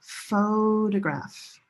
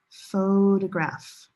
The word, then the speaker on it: photograph: They are related, but they sound totally different. Different stress location and different vowel sounds. Listen. Rose, boat, photograph, photograph.